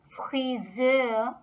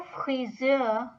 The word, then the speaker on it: Friseur: Der Friseur. Der Friseur is a German word that has a bit of French pronunciation once again, just like das Restaurant.